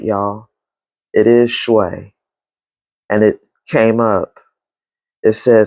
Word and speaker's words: Shui: It is Shui.